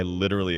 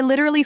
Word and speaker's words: literally: With a soft T and clear syllables.